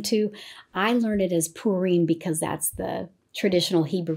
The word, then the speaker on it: Purim: people pronounce it like purum and that's more of an English way to pronounce it and that's totally fine too I learn it as purine because that's the traditional